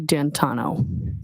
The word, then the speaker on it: D'Antuono: And when you went outside, you learned that he had come and his friend, is it Ricky D'Antuono? How do you pronounce the name? It's Ricky D'Antano.